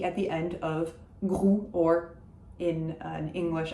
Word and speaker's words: Groult: Benoîte Groult. So we talked about Proust and the fact that we're pronouncing the T at the end of that name. However, Groult, we're not. It's just Groult.